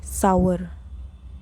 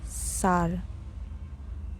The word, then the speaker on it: sour: If a lemon or a green mango is highly acidic, you say it tastes sour. No, it is pronounced as sour. Sour.